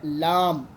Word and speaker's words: لام: آگے فا قوف کیف کے بعد آ رہا ہے لام. لام کو بھی ہم لمبا کرتے ہیں، لام لام، یہ ہو گیا.